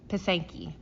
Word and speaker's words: pysanky: Pysanka, not Pysanky, it's Pasenki. Pasenka is the singular form and Pasenki is the plural form.